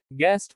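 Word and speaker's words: guest: U is silent after G in some words. कुछ शब्दों में U, G के बाद आता है तो का उच्चारण नहीं होता। गैस अनुमान। गिटार संगीत वाद्य। गेस्ट मेहमान।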